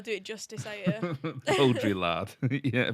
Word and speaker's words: Baudrillard: It's French, and I'm not going to be able to pronounce it correctly. You're not going to be able to do it justice, are you? Baudrillard. Yeah, Baudrillard.